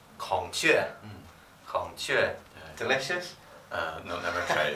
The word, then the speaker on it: 孔雀: 孔雀. 孔雀.